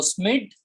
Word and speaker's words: Schmidt: हाउ you will pronounce it, anyone want to pronounce it, यू कैन। ठीक है, सो स्मिड, whatever स्मिड, ठीक है, स्मिड भाई साहब, and supported by the foster.